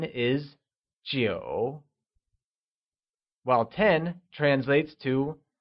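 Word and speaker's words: 九: 9 translates to jiǔ and is pronounced with a falling, rising tone.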